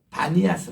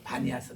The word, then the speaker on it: 바니아스: 신전이 있던 곳 시작에서 파리아스 이랬는데 이것이 바람이 피가 비로 이 부드럽게 돼서 바니아스 아고 요즘은 발음합니다 요즘은 가면도 바니아스 아고 하는 곳인데 거기는